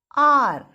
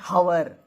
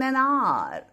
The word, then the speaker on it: hour: H is there in that spelling, but H is not pronounced. It is silent. So with such words, we use article an. Example, are. We don't say hour.